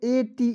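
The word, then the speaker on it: ate: एट ठीक है और ध्यान र दोस्तों कि अंतिम में जब ई आता है तो ई का साइलेंट रता है ठीक इसका उच्चारण नहीं करते हैं चलिए दोस्तों नेक्स्ट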